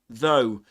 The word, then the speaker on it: though: The beginning of the word though is pronounced just like the word this one. The the and the symbol that represents the th here is this one. Which means that the there's vibration in the vocal folds.